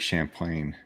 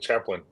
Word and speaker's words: Champlain: the new the Lake Champlain ah you said it right I wasn't I kept saying Lake Chaplin I wanted to say